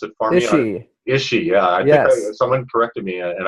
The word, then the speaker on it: Ische: is well your last name please pronounce it function is she yes someone corrected me and I've known you